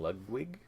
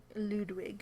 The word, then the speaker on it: Ludwig: for castles of Mad King lugwig Ludwig Ludwig there we go I think is that how you say it lwig Ludwig either or Ludwig potato potato yeah yeah